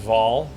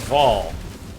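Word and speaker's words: Vaal: It's pronounced Vol. Oh, this is Vol. Vol rhymes with ball.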